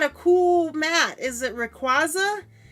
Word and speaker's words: Rayquaza: And I'm like, no, that's not how you say his name. Because that one I know, because at one of the competitions for Pokemon, like card tournament, they said it's Rayquaza.